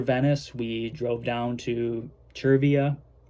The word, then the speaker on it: Chia: we drove down to Chia I've been pronouncing it CIA I think it's Chia that's what I heard over the loudspeaker so I hope I'm getting getting it right um which is where